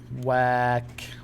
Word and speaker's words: whack: تذكر WH تنطق كواو. Whack.